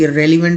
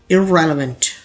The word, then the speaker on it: irrelevant: इसे पढ़ा जाता है, लोग मिस्टेकली irrelevant पढ़ लेते हैं, लेकिन करेक्ट प्रोनाउंसिएशन कुछ इस तरह से होती है irrelevant, irrelevant। यहाँ दोनों ई जो होते हैं इनको बिल्कुल ही मध्यम पढ़ा जाता है, irrelevant।